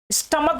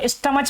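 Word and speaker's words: stomach: तो प्यारे बच्चों डिपेंड करता है कि प्रोनाउंसिएशन क्या है, हम इसको स्टमक पढ़ रहे हैं, इसको मोनार्क पढ़ रहे हैं, ना कि इसको स्टमच पढ़ रहे हैं, ना मोनार्च पढ़ रहे हैं।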